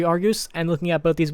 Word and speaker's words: Argus: did not actually shoot slugs I know it's pronounced Argus I'm just an idiot and like to mispronounce